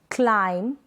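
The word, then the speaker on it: climb: Examples देख लेते हैं इन स्पेलिंग्स के, जैसे कि कॉम, बॉम, थम, क्लाइम, टॉम, क्रम, लैम। ये जो स्पेलिंग्स है यहाँ पर स्पेलिंग के लास्ट में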